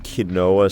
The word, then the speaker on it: quinoa: I had some quinoa salad. How do you pronounce it?